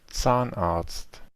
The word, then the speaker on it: Zahnarzt: escribe en el alemán, nótese que el sonido de la Z es siempre esta TS. Ya decimos que no es como decir es una T y una S individual, no, es una misma